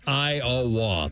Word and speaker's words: Iowa: town of odol Iowa and by the way that's three syllables IA that's how you pronounce it um I think I